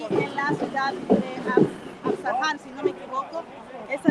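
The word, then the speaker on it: Isfahan: ciudad de Teherán y en la ciudad de Asfahan, si no me equivoco. Esa es la pronunciación correcta.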